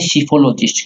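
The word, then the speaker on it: psephologist: है उसे बोलते हैं सीफोलॉजिस्ट। क्या बोलते हैं? जो इसमें पी साइलेंट है, क्या बोलते हैं? सीफोलॉजिस्ट।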